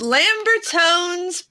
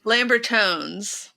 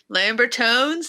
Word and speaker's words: Lambertones: It's Lambertone's pickups. Yes. Are you trying to figure out how to pronounce that incorrectly on purpose? Lambertones. Lambertones, not Lambertone. It's with the S. It's Lambert ones.